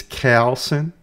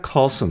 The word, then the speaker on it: Coulson: It's Coulson. It's Coulson. It's not Coulson like it's supposed to be.